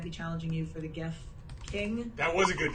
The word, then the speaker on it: GIF: That is a good GIF. And listen to me. I'm saying GIF. I'm saying with a hard G now.